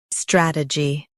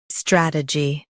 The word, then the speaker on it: strategy: strategy Now read the syllables shown on the screen naturally. strat uh gy strategy Stress the first syllable, strat, and keep a gy light.